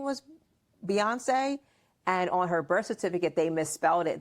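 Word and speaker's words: Beyoncé: message in there Beyonce Beyonce or as your pop pop calls her what boy buy cuz he doesn't say her name right he doesn't say her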